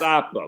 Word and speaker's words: Abba: It's pronounced Appa, but it is. Yo, I'll be right back, guys. You're lucky. Appa.